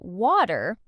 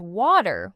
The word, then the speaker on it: water: actually pronouncing it as water with a clear t sound. What then? What do they actually say? More like waiter. The T transforms into a soft D sound when it's between vowels.